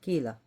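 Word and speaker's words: Killa: So Auntie is married to his sister Mama Kila. It's pronounced kila cuz it's not Spanish.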